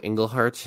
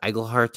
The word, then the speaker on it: Iglehart: before we go that I always say James Monroe engleheart when his last name is igleheart I've been saying it